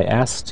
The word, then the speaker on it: asked: to say ask so usually people in speaking really don't pronounce the k at all they say I asked him I asked him you don't hear I asked it's very difficult try